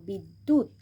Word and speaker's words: বিদ্যুৎ: নাট্য, আবার এখানে দয় হস্যুর সাথে যেহেতু জফলা আছে তাই দটাকে আমরা দুবার উচ্চারণ করব। বিদ্যুৎ, সেমভাবেই সত্য, অদ্য।